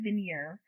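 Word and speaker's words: Vigenère: this it's spelled v-i-g-e-n-e-r-e i believe it's pronounced vineyard but i'm always i've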